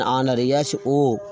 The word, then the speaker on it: honour: और अगर कोई शब्द एच से प्रारंभ हो लेकिन वहाँ एच का उच्चारण ना हो, एच साइलेंट रहे, तो वहाँ पर हम आयन का प्रयोग करते हैं। ऐसे ही आप समझ सकते हैं। ऐसे और एग्जाम्पल इसका लीजिए, एन आवर, एन ऑनर, HONOUR, ऑनर mean सम्मान,